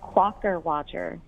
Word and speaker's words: Quockerwodger: It's called Quaker Watcher. It's from 1860. It's spelled Quockerwodger. A Quaker Watcher was a type of wooden puppet.